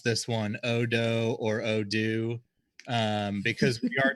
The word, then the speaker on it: odo: we're gonna you know care about so I pronounce it odo and hopefully that's not confusing for folks that's